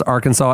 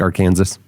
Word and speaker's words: Arkansas: It's strictly prohibited to pronounce Arkansas incorrectly. There is a law that says it, you know, like our Kansas.